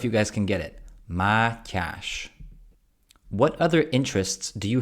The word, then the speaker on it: Matyas: guys can get this okay maash maash the Ty in there is very uncommon in other languages it's a sound in Hungarian so let me know if you guys can get it maash what other interests do